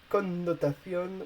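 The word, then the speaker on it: connotación: feminine means wonderful and connotation which is feminine means connotation don't forget to pronounce both end in spanish con notation be careful uh with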